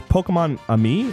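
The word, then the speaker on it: Pokémon-Amie: Uh that that was how do you It's Pokemon Ami is how it's pronounced, Kevin.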